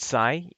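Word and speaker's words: 西: kanji for for west but sai the easy way to remember that is the kansai region of japan so that's how you'd read that kansai sai nishin like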